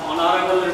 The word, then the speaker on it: honorable: হয়নি, অয়ের মতো হয়েছে যার কারণে এখানে তোমার honorable পূর্বে and বসেছে dear students next দেখো and